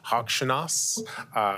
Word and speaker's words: Hokshanas: I think the way you pronounce Malley's last name is Hokshanas.